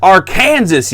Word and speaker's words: Arkansas: it's party time and it's pronounced arkansas you idiot now where is